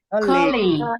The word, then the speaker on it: colleague: Colleague.